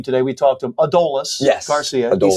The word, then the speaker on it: Adolis: We talked to him Adolis Garcia. He said it's Adolis Garcia. Um, you know, That clears everything up, too, because there was a lot of Adomises, yeah, Adolises, everything. It is Adolis.